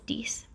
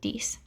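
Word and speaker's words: dix: nine is nuff and ten is dece i'll do that once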